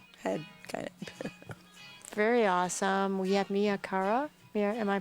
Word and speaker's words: Mia Cara: in my own head very awesome we have Mia Cara here am i pronouncing your name right yes Mia Cara here looking at her work and we're gonna